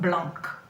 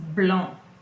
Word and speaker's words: blanc: If you take a look, you see that it's ending with a C. And I'm not pronouncing the C, am I? It's not blanc. It is blanc.